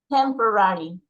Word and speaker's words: temporary: Temporary. The first. Very good. Temporary, temporary, temporary. Very good. The first one.